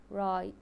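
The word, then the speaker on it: write: and followed by our W is silent the word here is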